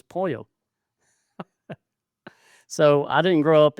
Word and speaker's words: pollo: And it's like I used to mispronounce pollo, polo. I called it polo chicken. Chicken's polo. It's pollo.